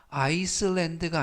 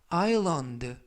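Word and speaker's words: island: S 발음이 묵음이라서 발음이 되지 않습니다. 그래서 아이슬란드가 아니라 아일랜드, 섬이라는 단어고요.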